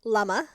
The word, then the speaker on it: Lama: Lama. Lama. Yeah, so Okay. think of like the fruit, the plum. Lama.